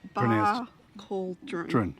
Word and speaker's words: Barcaldine: So it's pronounced Barcaldine, not Barcaldine.